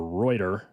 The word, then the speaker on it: Reuter: from uh from Chad rder or reuter I think it's Ryder actually R I think I found the pronunciation it's that guy if